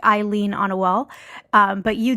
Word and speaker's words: Ilean: And Ilean is spelled like Eileen on a wall.